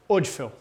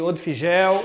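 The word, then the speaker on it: Odfjell: Para falar corretamente, tira o J. Woodfell. Tá? Porque é um nome complicado de se falar e eu já ouvi Odfigel, Odfil, Odfigil, Odgel, já ouvi tudo.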